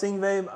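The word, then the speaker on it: Yngwie: He literally pronounced his name right there. He's like he's like, "Hi, it's Ingve. My name is Ingve Momstein."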